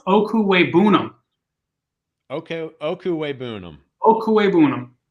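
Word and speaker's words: Okwuegbunam: know these things but albert o's last name is pronounced oku weibunum okay okuwei boonum oh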